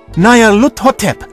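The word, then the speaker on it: Nyarlathotep: This phrase is pronounced Nayar-hut, or more likely, Lut-hotep. Nayar-lut-hotep, that's it!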